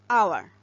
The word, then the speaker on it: hour: But notice the word hour. As A's is silent here and hour starts with a vowel sound, so an is used before the word hour.